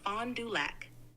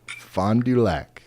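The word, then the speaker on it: Fond du Lac: this place in Wisconsin I think it's called fondu lock fondu um can you help me pronounce that correctly sure it's pronounced Fond duac does that help it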